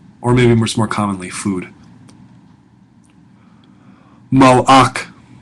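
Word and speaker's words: מלאך: Malach. Malach. Not melech. Malach. A little bit different.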